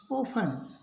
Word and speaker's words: often: OFTEN, इसको पढ़ेंगे ओफन, तो यानी कि इसमें टी का उच्चारण नहीं होगा। एंड में यदि TEN हो तो टी नहीं बोला जाएगा, EN का उच्चारण न होगा।